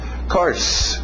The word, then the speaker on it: course: Course, lembra de som de cavalo? Horse, course. Não vai muito pelo escrito, cuidado, course.